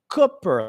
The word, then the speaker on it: Cooper: how to pronounce it it's Cooper like foot Roy Cooper spelled Cooper and he's